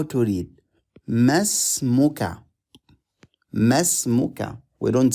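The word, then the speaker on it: ما اسمك: Masmuka. Masmuka. We don't say ma ismuka. No, we don't need to pronounce the stretching alif. We don't need to pronounce the starting alif.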